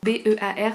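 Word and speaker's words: Pull&Bear: B-E-A-R, ça se prononce bear comme un ours.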